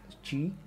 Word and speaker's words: qi: but a qi so it is like uh pronounced as g but it is the it is q i g is basically a chinese word the meaning of chi is nothing but the life force and this